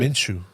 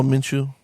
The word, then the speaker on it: Minshew: How do you guys pronounce it? Minshew. Oh, Minshew.